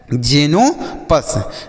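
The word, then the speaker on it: Xenopus: तो लिखा गया है जेनो पस अब जेनोपस का क्या अर्थ होता है बच्चों इसका कोई मीनिंग नहीं होता बच्चों तो इसे हम जीनो पस ही पढ़ेंगे ठीक है बच्चों तो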